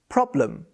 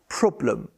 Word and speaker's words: problem: is important is because american and a lot of non-natives learn to pronounce it in the american way which would be are like problem instead of problem problem here's an example what's